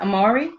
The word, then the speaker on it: Amari: Amari?